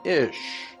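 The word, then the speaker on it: אִישׁ: Hebrew word for man, ish. Here's another reference work that said, interesting, the words for man and woman in Hebrew is identical. Man in Hebrew is pronounced ish and looks like this.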